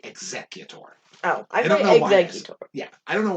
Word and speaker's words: Exeggutor: executor yeah i always i say executor i like like i pronounce the g's like like sc which is weird exactly yeah exeggutor makes it i t